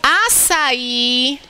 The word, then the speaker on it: açaí: Falou assim, Rose, açaí tem acento por se tratar de uma oxítona terminada em I.